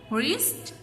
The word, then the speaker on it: wrist: Silent W, answer, wrist, sword.